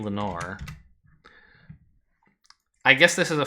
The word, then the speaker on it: Lenore: Lenoir? Oh. Is that in, I know Edgar Allan Poe talks about Lenoir. Actually, I don't know how you spell it. Oh, it's Lenore, right?